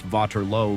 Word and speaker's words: Waterloo: On June 18th, the mud of Waterloo, pronounced VALO locally, is slick with blood and rain.